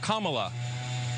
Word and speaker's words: Kamala: fellow hosts on fox her name is pronounced comma like the punctuation mark look kamala okay seriously i've heard